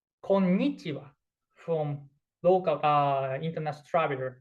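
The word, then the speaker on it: こんにちは: So if you want to settle in Japan, we hear like konnichiwa from local international traveler, like konnichiwa, hello, konnichiwa, konnichiwa. But correct one is konnichiwa, konnichiwa. This is important.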